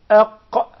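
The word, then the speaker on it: ق: We put the Hamza before the Qaf, then we applied sukoon on it, and now we're ready to pronounce it. And we'll come to say Aq, Aq, Aq, Aq.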